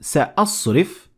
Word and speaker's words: سَأَصْرِفُ: Notice the difference between Hamza in the word سَأَصْرِف and how it's a little bit extended when it is followed by Alif in the same ayah, but a little bit further in the word ayati. So we say سَأَصْرِفُ عَنْ آيَاتِ. We extend it a little bit longer when it is followed by the long vowel alif.